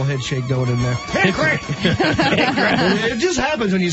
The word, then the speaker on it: Hickory: But you don't really pronounce the O. It's just Hickory like that.